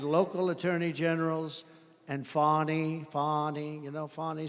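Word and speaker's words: Fani: local Das and local attorney generals and fonny fonnie you know fonnie spelled f a n i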